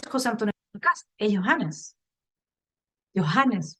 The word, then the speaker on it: Johannes: Johannes, para que no me digan que no pronuncio la H.